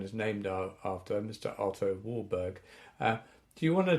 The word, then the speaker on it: Warburg: the 1920s um yeah Professor Warburg I think he's pronounced wolberg it probably is yeah we'll continue with Warburg